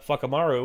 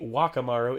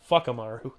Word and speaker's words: Whakamaru: Anytime you hear a W it's pronounced with a fwa, like with the F, and a town of what would be Wakamaru is Fuckamaru, which, and he was